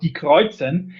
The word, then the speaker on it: Die Kreuzen: Yeah, it's a wonderful pleasure to talk about Die Kreuzen. And I hope that you understand that I will not pronounce it in an Americanized way. Being German, I stick to that one.